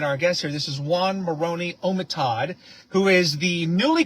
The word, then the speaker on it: Oanh: it's a lovely name you spell it o a n h that's right what part of the world is that come from or does that does that name mean you pronounce it Juan yes what does that what